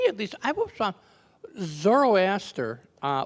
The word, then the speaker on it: Zoroaster: was found zoroaster uh which by by the way is a mispronunciation of a mispronunciation zoroaster is the Latin mispronunciation of the Greek th sister which is a mispronunciation of the Persians zard you know so um